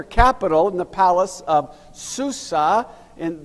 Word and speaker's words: Susa: in the palace of Susa, and the Persians would pronounce that Shushan.